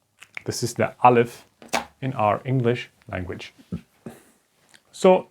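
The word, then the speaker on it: א: little bit okay so we don't say ah or something we say we use this apple stuff to illustrate that this is the guttural stop this is the alif in our English language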